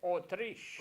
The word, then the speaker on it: Autriche: Austria, en français, c'est prononcé Autriche.